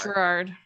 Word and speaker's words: Gerard: It is Gerard. Gerard. Okay. Yep, soft G.